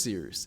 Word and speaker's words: Cyrus: needs My name is Cyrus. It’s spelled like “Cyrus,” pronounced like “,” just take out the “ter” Thank you very much for watching and have a wonderful day!